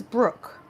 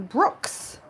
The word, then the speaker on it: Brooke: You know, for years, my name is Brooke. And you would think that that's easy, right? People would call me Brooks for years.